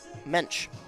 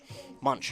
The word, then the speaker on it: Munch: And at third, it is number 8, Cadence Mensch. That is the infield. I want to make sure I'm pronouncing her last name right. Munch, excuse me. So that is Caitlin Munch over there at third.